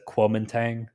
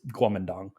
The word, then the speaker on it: Guomindang: Its proper name is the Guomindang. That's how it's pronounced, or more or less how it's pronounced in Chinese. In English, they like to pronounce it Kuomintang, but it's Guomindang.